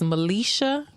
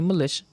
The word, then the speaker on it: Malechia: My name on Facebook is Melisha. Everybody in Fort Wayne called me Melisha, but it's Melisha, y'all.